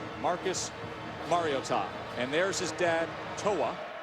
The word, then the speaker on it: Mariota: Thus the pronunciation by the way it's been said Mariota. Mariotta mom called the athletic department about a week ago. She said do me this favor. It's Mario and then Tom. Put it all together.